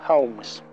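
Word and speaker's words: Holmes: ya la oms ya la oms no se pronuncia la l deja oms no me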